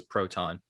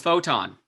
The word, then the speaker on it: Photon: And it says in quotes in between her name, obviously her nickname, it says Proton. I was Photon. Photon, thank you. I've been saying it wrong this whole time.